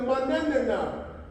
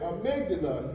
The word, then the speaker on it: amygdala: This 3-year-old, he said, it's the manana. I said, that's all right. I said, amygdala. He said, amygdala. Now, he didn't know how to pronounce it, but he knew